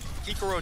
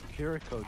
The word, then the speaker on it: Kiriko: Kikaro different. Kiriko diff. Kikaro. Why can't people say her name right?